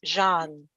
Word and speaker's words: Jeanne: Yes, the French pronunciation of my first name is Jeanne.